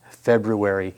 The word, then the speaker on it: February: And yes, I do pronounce the first R in February.